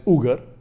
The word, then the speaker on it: Uyghur: in China, in Xinjiang, also pronounced as Uyghur. There are two types of pronunciation, Uyghur Muslims or Uyghur Muslims.